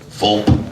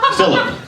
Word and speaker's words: Philip: Fulp? Fulp? Philip. So it's 2 syllables.